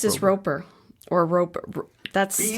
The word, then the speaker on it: Rober: I guess robber, like robbing a bank, right? Well, you said P and B. Rober or robber?